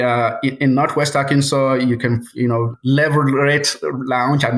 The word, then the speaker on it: Leverett Lounge: We in Northwest Arkansas, you can, Leverett Lounge. I'm not saying it right, but Leverett Lounge. Leverett Lounge, yep.